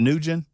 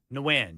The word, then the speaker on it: Nguyen: Is it Nugent? Probably what? Win. Nguyen? Nguyen, yeah. Okay.